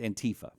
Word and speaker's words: Antifa: And now there's, okay, this, how's it pronounced? Antifa? It's Antifa.